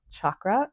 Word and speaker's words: chakra: k r a and the C Sound in Sanskrit says CH like Choo Cho so chakra is is the way